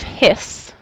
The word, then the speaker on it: His: really awesome fantastic names purkinji is how you pronounce the fiber bundle of his is how you pronounce uh the beginning of that nerve fiber so if i were